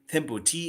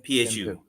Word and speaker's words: Thimphu: Yeah, So so the capital what it, and I don't it's how do you pronounce the capital? Thimphu, Thim Thimphu. Thimphu.